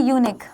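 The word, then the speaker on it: unique: यूनिक लिखा हुआ है। क्या लिखा हुआ है? यूनिक है ना? तो साउंड किसका आ रहा है?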